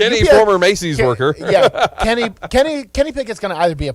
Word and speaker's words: Pickett: I think Kenny Pickett is a fraud, and I think he'll be out faster than Josh Rosen.